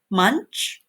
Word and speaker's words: Munsch: name of the magazine Munsch it rhymes with lunch and the word contents